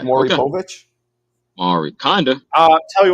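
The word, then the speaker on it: Māori: Mori.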